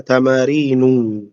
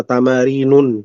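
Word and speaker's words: تمارينُ: Tamarinu bacanya tamarinu. Ulang-ulang lagi ya. Tamarinu. Enggak boleh antum mengatakan apa? Tamarinun enggak boleh.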